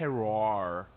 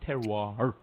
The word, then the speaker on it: terroir: I think it's terroir. It's like got that French thing, but then with the R is not so. It's like terroir. Right back, terroir. It's like the R comes back and sneaks up on you.